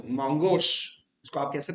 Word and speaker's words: Mongosh: तो Mongosh, इसको आप कैसे प्रोनाउंसिएशन करेंगे?